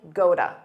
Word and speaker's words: go to: He pronounced this quite clearly, but a native speaker might say goda, because that T between two vowels becomes a soft D. Goda, go to sleep.